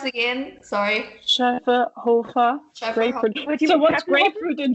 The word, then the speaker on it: Schöfferhofer: There is no drinking around the world without the Schöfferhofer. Can you pronounce it again? Sorry. Schöfferhofer.